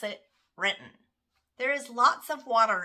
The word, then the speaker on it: Renton: First off, Renton natives pronounce it Renton.